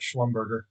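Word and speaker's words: Schlumberger: Yes, I know it's pronounced sch slumber, but it's much more fun to call it sch slumbberger.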